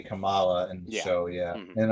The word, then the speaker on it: Kamala: they say they say Kamala in the show yeah and um different emphasis on different letter and um and she's